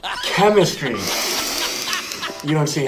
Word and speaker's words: chemistry: that's why okay but when it's not French what sound does this make Dutch sound which means this word is it'd be chemistry chemistry you don't see how